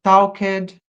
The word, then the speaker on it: talked: Talked. Aqui eu vou colocar o ed. Normalmente a gente não pronuncia esse ed. A gente pronuncia apenas o d. Por exemplo, talked.